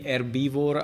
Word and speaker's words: herbivore: How do you say? Wait, I pressed F12 for whatever reason. Ah, with the H.